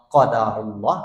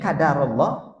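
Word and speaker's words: قدر الله: ha tapi Ucapkanlah Masyaallah qadarullah atau qadarallah jangan kadarallah kadarnya bedaah tapi qo qadarullah atau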